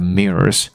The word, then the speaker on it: mirror: facing the mirror，所以不要睡的时候呢，面对镜子。那这个也是我妈在安排她的卧房的这个摆设的时候，也很强调这一点。那这边我们一般相信镜子可能是通往另外一个次元的一个隧道之类的，或者一个窗口。所以这里英文说的是，It is believed that mirrors are a portal to another dimension。And absorb life energy and probably your soul as well.